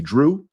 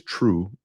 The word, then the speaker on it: Drew: Too Good to Be Drew. I pronounced it as true a little while ago, but you won't see that clip by yours truly, Drew J.